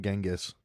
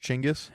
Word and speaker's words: Genghis: We have my cousin's dog's name is Macaroni, so You should name it Genghis. I don't think you're talking into the mic. I am. Okay. Genghis? Genghis? It's actually pronounced Chinggis.